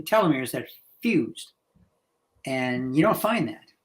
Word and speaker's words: telomere: Now, there's some genes that are similar to a telomere, pronounced different ways, by the way. I like telomere because the word telescope is tele, which is what we're looking at.